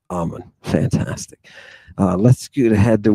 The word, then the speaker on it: Eamon: Okay, it's Amon. This guy has a problem the whole time. Even though he hears other people pronounce it Amon. It's Amon. For everybody out there, Amon.